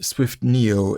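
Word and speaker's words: SwiftNIO: Interestingly, the very first word in Swift-Neo is an open source network application framework, and Swift-Neo there is spelled like Swift Data or Swift UI. It's Swift and then capital NIO.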